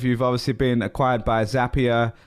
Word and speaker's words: Zapier: obviously been acquired by zapier rhymes with happier i just confirmed that